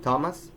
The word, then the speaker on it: Thomas: An exception to this case is thus of some words that are pronounced with a normal T, even though they are spelled with a th, as in Thomas, Teresa, or Thames.